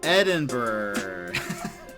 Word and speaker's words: Edinburgh: it's spelled it is i didn't realize that ed in edinburgh berg it's not berg then pronunciation let's